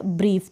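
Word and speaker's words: brief: ब्रीफ। तो यहाँ पर मैंने कोई रूल नहीं सीखे हैं, मेरी प्रैक्टिस है, इसलिए मुझे पता चल रहा है। अब यहाँ पर आप बी आर को ब्र प्रोनाउंस कर देंगे और आई ई को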